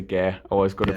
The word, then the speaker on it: Gair: I'm going to say Gair. I was going to pronounce it like the announcer at the last one, but I'll let you off for that.